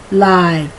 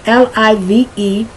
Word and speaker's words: live: Now don't forget the L-I-V-E has two pronunciations. It's a homograph. L-I-V-E can be pronounced either live, where the I is short, or it can be pronounced I, live, where the I is long.